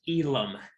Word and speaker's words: Elam: name first okay so my last name is pronounced elam elam okay awesome elam and